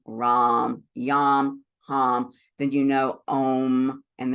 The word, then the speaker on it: ram: The A in each of these is pronounced as ah. So lam, vam, ram, yam, ham.